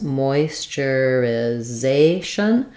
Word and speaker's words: moisturization: So thinking about, we have some secondary stress, moisturization. So it sounds like moist moisture. This TU sounds like a CH sound, ch, moisturization.